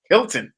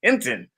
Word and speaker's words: Hinton: time I did it the announcer said my name wrong said and playing our national Anem national anthem is Hilton Hinton it was so funny